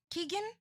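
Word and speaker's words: Keoghan: She talked in that article about the breakup of Sabrina Carpenter and Barry Kogan. Is that how you say his name? Keegan.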